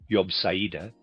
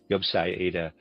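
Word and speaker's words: Jobsiade: Cortum, the poet who wrote Yobeda, was one of the most significant alchemists of the 18th century. Readers aside, Yubsa is spelled J O B S I A D E.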